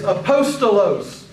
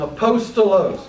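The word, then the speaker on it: ἀπόστολος: pronounce them remember the Greek letters always are pronounced the same way basically so let's look at these words the first word is apostos apostos it is the word that we get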